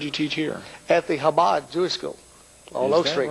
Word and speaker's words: Chabad: And you said Chabad, and so the C is not pronounced there.